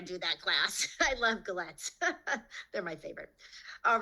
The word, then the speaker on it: galette: So and you're doing, and I'm going to pronounce it wrong, but I love this, the galette. Say that galette, yes.